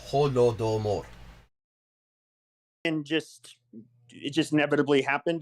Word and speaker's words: Holodomor: It is not a complicated word to pronounce. Holodomor.